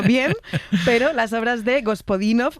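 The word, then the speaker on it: Георги Господинов: Ayúdanos a pronunciar los autores. A ver, Georgi Gospodinov, Zdrafka Eftimova y Vera Mutavchieva. Ahora sí, ahora sí. Perfecto.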